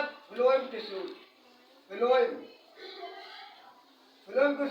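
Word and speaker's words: phloem: कंप्लस को कहते हैं एक का नाम है फ्लोम tissue फ्लोम फ्लोम spelling ध्यान दीजिए पी एच एल ओ ई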